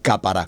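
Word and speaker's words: כפרה: la segunda palabra y la palabra capará se escribe tal cual como se pronuncia capara con el k k de kilo estas tres palabras nos van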